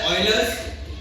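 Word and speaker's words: Euler: होता है yours constant actually इसको पढ़ते है ऑयलर्स बट अपन इंडियन इसको यूलर ही पढ़ेंगे स्पेलिंग ऐसा दे यलर भी पढ़ते है ब्रिटिश इंग्लिश में इसका एक्चुअल वैल्यू है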